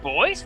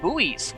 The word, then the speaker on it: buoys: They're pronounced boys. I thought it was pronounced buoys.